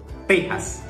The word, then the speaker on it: Texas: Entonces nosotros la X ahí la utilizamos como Texas, y aquí en México se utiliza como J, y se dice Texas.